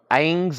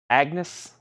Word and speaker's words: Agnes: summer right we have angs of God angs of God AGS how do you say that a angs of God perhaps 10 bucks Agnes Agnes okay even though I do